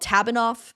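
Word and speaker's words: TABINOF: you know, this fandom, no fandom in the world loves an acronym more than them and pronouncing the acronym phonetically. So the book is called Tabanoff and the tour is called Tatanoff.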